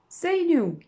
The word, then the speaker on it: zenuw: Zenuw, zenuw, zenuw, zenuw, de zenuw. U. W, also the UW you pronounce as U.